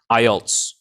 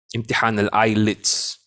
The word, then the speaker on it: IELTS: okay you notice you notice that i said ielts exam that's very important because many people they mis mispronounce the word they call it the eyelids but it's not called empty handle eyelids it's